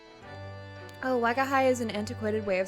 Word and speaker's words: Wagahai: Oh, is is is do I pronounce that? Wagahai.